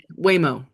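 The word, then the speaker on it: Waymo: Whimo. Spell that.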